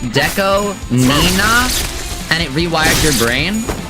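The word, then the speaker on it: DECO*27: hard you learned that his name is pronounced Deco Nina and it rewired your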